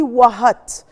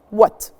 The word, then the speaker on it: what: we need to pronounce the h is silent in what what i don't say wahat i don't pronounce the h what the pronunciation of c